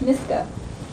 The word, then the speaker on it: Miska: Just the way it sounds.